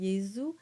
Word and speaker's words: Jesu: So you would get a very soft production of a Z sound as in Jesu and resurrexit.